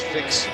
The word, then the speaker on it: Fix: That's Fix spelled like it sounds, F-I-X.